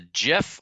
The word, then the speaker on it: GIF: guy you're not a gif guy you're a gif guy oh no we're doing that now oh no I'm a soft G that's discussion for another